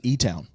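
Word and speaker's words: Elizabethtown: of like you know everybody talks about Elizabeth Town y nobody from Kentucky calls it no it's e toown ewn well yeah they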